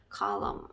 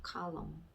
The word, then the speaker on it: column: 그러면 column 이렇게 되겠죠. column. 자, 이 규칙 묵음 11번에서 중요한 규칙은 뭐다? M 뒤에 N이 나왔을 경우에 N은 묵음인 경우가 많다.